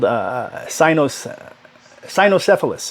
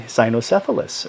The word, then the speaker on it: cynocephalus: But these dog-headed men, called cynocephalus is what it is. The C is pronounced like an S, but cynocephaly is basically having a dog-shaped head. I think it's from the root word that also gives us canine, which is a hard K sound, the K.